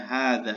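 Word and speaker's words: هذا: yang belum bisa berbahasa Arab ya tolong banyak-banyak diucapkan ya hadza hadza hadza ya hadza baitun hadza masjidun had babun dan seterusnya ya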